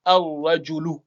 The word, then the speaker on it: ar-rajulu: On va doubler le ra, mais on va supprimer la prononciation du lam. Ça donne ar-rajulu pour dire l'homme.